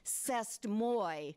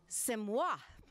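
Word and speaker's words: C'est moi: when our discovered that this phrase I had been reading cest Moy was actually supposed to be pronounced Simois Olga can not only speak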